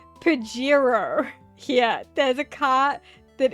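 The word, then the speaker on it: Pajero: um which is marketed uh it's it's pronounced Pirro here there's a car that is marketed and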